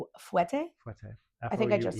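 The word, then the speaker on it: fouetté: Fouette? Fouette. I think I just said it right. Yeah, you did. Fouette. Everyone either says fouette or fouette. Fouette. Like alouette, Jean-Pierre Alouette. Fouette.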